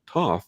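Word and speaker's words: Thoth: talked about the Egyptian god Toth or th as some people pronounce it that she didn't many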